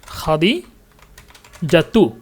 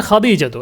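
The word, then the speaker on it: خديجة: না উচ্চারণ হবে না খাদিজাতু মূল নাম হচ্ছে খাদিজাতু আমরা বলি খাদিজা কিন্তু মুখস্ত করার সময়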